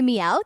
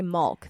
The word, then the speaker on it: milk: I think it's fine as long as you don't say mulk. That one's wrong.